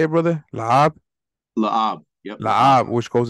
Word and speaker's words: Lahab: Lahab?